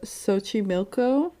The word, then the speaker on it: Xochimilco: And it's in the channels of Xochimilco. I looked up that pronunciation.